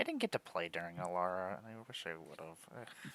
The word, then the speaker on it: Alara: and play Child of Alara as your commander. Oh, bullshit. And Alara rhymes with Emmara, so like That is true.